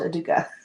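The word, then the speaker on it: Educa: I've done several from them and before anyone says it, yes, it's called Aduka. They are a Spanish brand and that's how they pronounce it.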